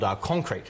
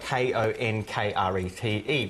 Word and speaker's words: Konkrete: Yeah, so one of the things, one big project that I'm working on is something called Konkrete, and it's spelled Konkrete, which is because we love a tricky spelling.